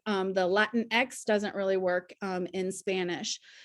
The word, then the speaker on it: Latinx: The X in Spanish is generally pronounced like an SH, so it doesn't work. The Latin X doesn't really work in Spanish.